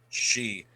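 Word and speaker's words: Sidhe: She. She. I'm gonna write that down. She. I always forget. Yeah. She. The D is silent. Yeah, I pronounced like she.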